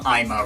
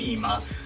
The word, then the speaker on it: 今: track is also why I tend to get the urge to pronounce this album IMA rather than EMA like there's a part